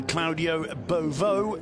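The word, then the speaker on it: Claudio Beauvue: Welcome back to Butarque, where we can see Claudio Beauvau, that's the correct French pronunciation, warming up at half-time.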